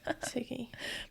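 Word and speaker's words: Segee: Oh, sigy. Siggy, but it's not spelled like that. It's s e ge.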